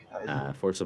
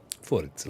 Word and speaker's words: Forza: Forza, like Ibiza.